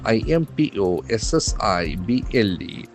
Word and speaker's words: impossible: state board are impossible i m p o s s i b l e so that's the opposite of the adjective possible impossible impossible accent falls on the second syllable it cannot happen impossible